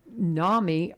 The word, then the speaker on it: NAMI: Talking with Amy Lawrence, and she is with NAMI, Robertson County, or I say it again.